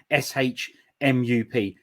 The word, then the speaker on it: SHMUP: Or how do you pronounce the SHMUP?